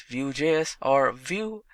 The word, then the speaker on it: Vue.js: Vue.js is commonly referred to as Vue and pronounced as Vue.js or Vue is rightly so.